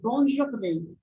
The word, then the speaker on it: bonne journée: Então, eu separei aqui 4, que são as sílabas mais utilizadas, que você pode utilizar, tá bom? A primeira dela é bonne journée, bonne journée, bonne journée.